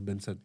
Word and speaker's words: BNXN: Donc du coup Benson a décidé de se de garder la même orthographe mais que que ça que ça se prononce Benson et et c'est plus clair pour nous-même. Mais ça s'écrit toujours de la même manière hein.